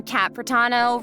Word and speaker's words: Kat Pratano: Hey everyone, I'm Kat Pratano, rhymes with Capitano, the voice of Child's Master.